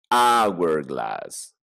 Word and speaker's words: hourglass: The hourglass. Ah, tiene otra pronunciación. The hourglass. Sí, pues, porque reloj de arena es hourglass. No es hourglass, no es house, no es hen, es hourglass.